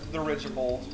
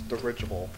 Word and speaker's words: dirigible: So like, there's the, there's Reinstage's house, there's Forbidden Temple, there's Dirigibold. Dirigibold. That's why? You said Dirigibold. Oh, okay. There's no bold, it's Dirigible.